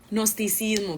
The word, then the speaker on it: Gnosticismo: Gnosticismo, gracias. Se escribe con G, pero muy bien.